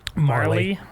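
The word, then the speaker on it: Majerle: Dan majorly's little brother Marley Marley you have a jam yeah that's how it's pronounced the J is silent Marley's little brother had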